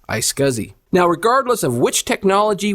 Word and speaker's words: iSCSI: FC there's also a less expensive option called ice scuzzy now regardless of which technology we choose to use Fiber Channel or ice scuzzy they function in basically the same way we